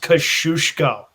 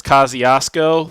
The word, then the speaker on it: Kosciuszko: event going six furlongs kosciuszko kashusko it's pronounced kashushko the joke is the australian pronunciation is kosciuszko for their big race and that's not the polish pronunciation which andrew will continue